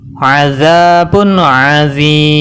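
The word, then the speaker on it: عَذَابٌ عَظِيمٌ: Dan cara bacanya azabun azim. Dibaca panjang 2 harokat atau 4 harokat atau 6 harokat.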